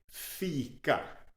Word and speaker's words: fika: We have 2 vowel sounds here, a long E and a short A. E, A. E, A. Fika.